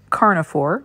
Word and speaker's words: Carna4: So my favorite kibble is called Carnivore, which is spelled CARNA4, and a 23-pound bag of chicken Carnivore sells for $159.99.